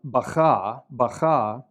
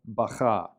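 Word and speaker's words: בכה: But in the word to the right, bacha, the kaf lacks the dagesh and therefore has a rough sound. I've represented that as a K, an underlined K. Okay, bacha. The bet makes a B sound because it has a dagesh. The kaf makes a ch sound because it lacks dagesh.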